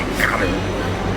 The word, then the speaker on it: Qatar: If I was speaking proper Arabic, I would make that cool little sound that they make, and I would say Qatar. It doesn't really even sound good when you're an English speaker to hear the word gutter.